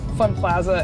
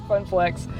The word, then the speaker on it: Funplex: Sorry, Funplex. I think I said it wrong 50 times. So sorry, it's Funplex. Oh, look, there's their entrance.